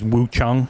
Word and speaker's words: Wuchang: In the game, her name is Wuchang. Every time they say her name in English, Japanese, Chinese, whatever you got it set to, they say Wuchang, which is why I